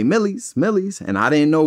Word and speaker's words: Millyz: my name's Miles so he would just say Millies.